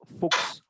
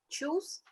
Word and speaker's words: Fuchs: Choose? No. Fuchs. See the pronunciation? Fuchs. Fuchs. Fuchs. Fuchs. Fuchs. Fuchs. Fuchs. Fuchs. Fuchs. Correct? Fuchs. Whenever CH is occurring before S, and no exception.